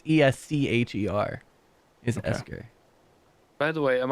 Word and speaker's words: Escher: like a sure Escher I like it with like I like I I like esker better spell it that same way you are the God bro and see Asher is yes c-h-e-r I just feel like esker sounds more Scandinavian well not Scandinavian uh